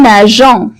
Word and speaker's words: nageons: Comme nous nageons. Vous voyez, on a ajouté E justement pour prononcer la lettre G, pour pouvoir prononcer la lettre G comme J.